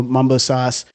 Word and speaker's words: Mambo Sauce: because if you know Mumbo Sauce is spelled m a m b o but pronounced Mumbo Sauce so that's how they